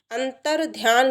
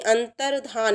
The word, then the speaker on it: अंतर्धान: अंतर्ध्यान नहीं, अंतर्धान, ये वर्तनी की दृष्टि से भी आता है ना, अंतर्धान।